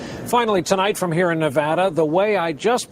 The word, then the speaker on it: Nevada: It's great to be here in Nevada.